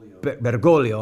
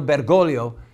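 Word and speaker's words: Bergoglio: with the name again bolio I want to say the name right think the second g is silent Cardinal bergolo fought against the Marxist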